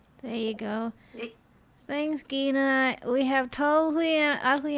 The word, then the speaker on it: Gena: uh uh and yes her name is pronounced gina and we can't wait to see her again